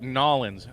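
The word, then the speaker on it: New Orleans: lay more asphalt down it's oh it's that's pronounced Nolans I've spent some time down there when I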